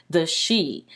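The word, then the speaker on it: Sidhe: It's spelled like the Sidhi, but upon further research, I found that it's actually pronounced the she.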